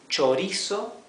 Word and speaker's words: chorizo: CH, CH is pronounced ch. So this is chorizo, which means sausage.